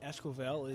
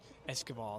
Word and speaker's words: Esquivel: So second baseman Esquivel is now up. He's in the 8 spot. Esquivel, excuse me, I should say. Better pronunciation there.